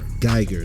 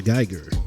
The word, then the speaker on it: Guyger: Guyger. That's how you say it. Amber Guyger.